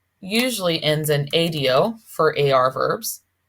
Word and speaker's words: ha: as a OS an remember H's are silent in Spanish all right just like